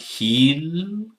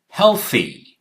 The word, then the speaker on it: healthy: Sounds like healthy, but this is how it's pronounced. These are the pronunciation keys. Hell, okay? And this one is th sound. Healthy, not healthy, okay?